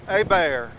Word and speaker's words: Hebert: doctor one doctor his his name is what is it a bear but it's spelled h-e-b-e-r-t i would say hebert but no they told me it's a bear what before they got